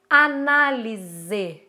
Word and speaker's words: análise: Análise, mesa, certo? E aí eu trouxe também, essas são palavras que são escritas com S e que são pronunciadas com Z.